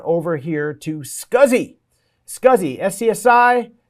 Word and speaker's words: SCSI: SCSI, SCSI, pronounced SCSI, Small Computer System Interface.